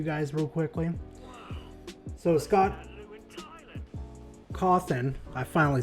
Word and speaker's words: Cawthon: it to you guys real quickly so scott coffin i finally said it right like cheese i'm